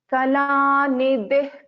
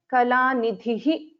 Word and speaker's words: kala nidhih: So after a visarga, if it is a ka letter, then kala nidih kavya kala. So we pronounce a half visarga here. Kala nidih kavya kala. I don't pronounce this as kala nidhihi kavya kala.